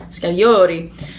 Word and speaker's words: Scagliotti: Scagliotti. Oh, precious. No one pronounces it that romantically. And it's actually a long O, if I'm going to get nitpicky. Scagliotti.